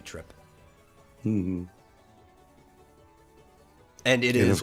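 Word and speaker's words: Trepe: And her last name is probably Trip. It's a form of tulip. In Japanese, it's spelled like turepu. So her name is just supposed to be Trip.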